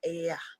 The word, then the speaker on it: Ea: Now, when I pronounce E-A, I get Ia. Yeah. Facts. I get it. Okay, so those two, E-A, pronounced very fast, can get that, can give you that same pronunciation.